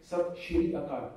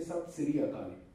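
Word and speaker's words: ਸਤ ਸ੍ਰੀ ਅਕਾਲ: But have you ever heard a Punjabi saying Sat Shri Akal? No, we say Sat Siri Akal. In daily communication, we don't use Sh or Z.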